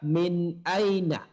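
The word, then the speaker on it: مِن: Selanjutnya nomor 2, min aina zalikal mudarris. Di sini nomor 1 dan nomor 2 tulisannya sama, mim dan nun. Namun ternyata cara membacanya nomor 1 dan nomor 2 berbeda.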